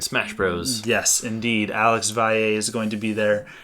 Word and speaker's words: Valle: Alex Valle is going to be there. And so... Oh, Alex Valley? No. Oh. That's not how it's pronounced.